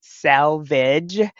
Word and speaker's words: Selvage: So there is the next term we want to talk about is the salvage, which is spelled Selvage, or some people pronounce it salvage, Selvedge.